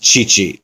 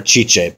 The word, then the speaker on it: Tite: Once the new manager Tite came in, I know it's pronounced Chichi or Chiche, but I'm going to say Tite.